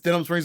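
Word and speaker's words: Denham Springs: might have heard of it it's spelled it's Denim Springs Louisiana it's spelled just like it sounds Deen KKK hm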